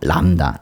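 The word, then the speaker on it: λάμδα: 얘 제일 문제가 였죠 람다 람다는 르 발음이 나는데 람다이 르 발음이 나는데 그 르 발음이 사실 두 번나요 그래서 초성에서 한 번 나고 그 앞에 단어 앞에 단어에 받침으로 리를 하나 빌려 주는 그런게 바로 람다입니다 람다 도릴 발음이 나오고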